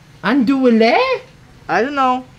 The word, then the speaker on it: andouille: It's pronounced andouille. Oh, but how did they say? I think in français it's andouille.